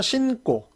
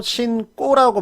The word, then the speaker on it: 신고: 그래서 예를 들어서 신고, 신고라고 하지 않고 신꼬라고 발음을 하는 것.